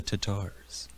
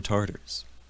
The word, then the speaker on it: Tatars: Wilson is the Bulgarians, we've got the Lithuanians, and the Tatars, or Tartars. However you want to pronounce it.